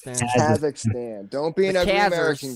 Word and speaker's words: Kazakhstan: But I just saw, because I was looking, I was like, I was like saying how Kakistan or whatever the fuck is how you say it. Kazakhstan.